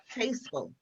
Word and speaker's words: Stejskal: No, I want to say your name, Stejskal. You got it.